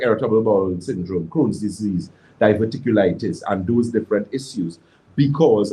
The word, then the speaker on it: diverticulitis: is a key component people who have difficulty diverticulitis so that's how it's pronounced is are individuals who have serious problems